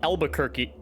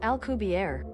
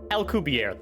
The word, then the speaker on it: Alcubierre: In the Wikipedia here, it says it uses the Albuquerque. No, that's not it. Alcubierre. Hold on. All right, let's see how Google here says to pronounce this. Alcubierre. Alcubierre. That makes much more sense.